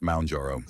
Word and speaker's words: Mounjaro: Is it Moun or Mon? Mounjaro is pronounced Mounjaro.